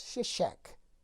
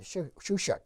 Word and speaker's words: Shishak: reign of of uh this shishak or shushak is is probably a better pronunciation in the bible therefore kenneth kitchen said